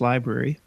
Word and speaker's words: LBRY: let people know about I guess it's pronounced library we have a few